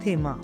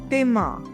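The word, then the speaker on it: Thema: और एक चीज और यू मस्ट रिमेंबर, जैसे हमारा टाई में आता है थेमा, तो इसको थेमा नहीं बोलना। बच्चे बहुत सारे बोलते हैं थेमा। This is टेमा।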